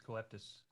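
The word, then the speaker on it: Coeptis: you pronounce that i think it's coeptus there's no l coeptus so so that stands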